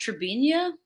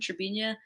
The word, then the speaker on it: Trebinje: there's a little town called Trebinje. It's spelled like with a J A at the end, Trebinje.